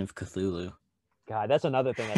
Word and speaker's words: Cthulhu: You know, it's actually pronounced Cthulhu.